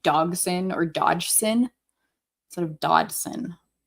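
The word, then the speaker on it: Dodgson: his so the spelling of this is inaccurate to how his name is said. It's like there's a silent G in between the D and the S.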